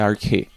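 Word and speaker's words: ἀρχή: Deus criou pois bem a palavra grega usada aqui é arque a pronúncia dela é arque E conforme o dicionário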